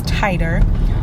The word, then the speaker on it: titer: I was saying titter before, but I was saying it wrong. So it's titer.